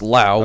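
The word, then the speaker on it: Laos: this word La is pronounced Lao without the S I'll ask Hayden's girlfriend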